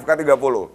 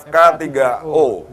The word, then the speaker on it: FK3O: Seperti saya ini membacanya FK30. Tapi ternyata yang benar adalah FK3O.